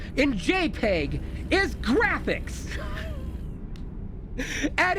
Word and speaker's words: JPEG: what the P stands for I call it J Pig it sounds cute to you booger I it sounds j i I call it a JPEG you know what I call it a jpig